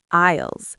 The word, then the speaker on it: aisles: Isles? That's a tricky word to spell. A I S L E S. The S is silent.